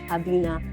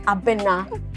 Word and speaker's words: Abena: Maybe the Northerners, or they have because some the Northerners that pronounce my name Abina. I went to a Tamale and I was like, please, Alaji, please, it's not Abina, it's Abena.